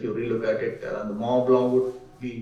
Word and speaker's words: Mont Blanc: And so the spelling of blank is Mont Blanc is BLONCK, whereas it is pronounced as Blanc. Mont Blanc. Yeah. It's a typical French pronunciation.